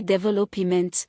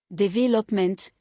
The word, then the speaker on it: development: Development, some say develop e ment, placing stress on middle. Standard, development, stress on Interesting, some say interest i n t i n g.